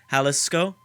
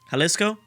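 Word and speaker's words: Jalisco: pronounce this one uh I know that the J is supposed to be pronouncing it's like an H halisco halisco is that right that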